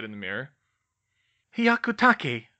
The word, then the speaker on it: Hyakutake: Hyakutake, Harry, Hermione told him. It's Japanese.